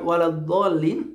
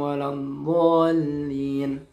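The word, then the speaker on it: ولا الضالين: Pada lafaz waladdallin itu panjangnya harus 6 ya. Tidak boleh kurang. Nah, ketika kita membacanya misalkan jadi pendek, ghairil maghdubi alaihim waladdallin.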